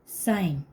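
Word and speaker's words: sign: third है third है साइन एस आई जी एन साइन साइन में भी एन से पहले जी है साइन मीस चिन्ह होता है चि तो यहां भी देखो जी साइलेंट है एन से पहले आया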